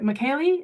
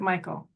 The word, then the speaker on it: Michael: Is it Michaeli? Is that how you say it? Or is it Michael? Or please help us. Or Mikhail. Oh, it's Michael, I think, if you're referring to me.